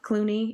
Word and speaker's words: Cluney: And for me, Victoria Clooney, if you find me, I'm on all the social media platforms. Clooney is spelled Cluney. So it sounds like the actor, just spelled different.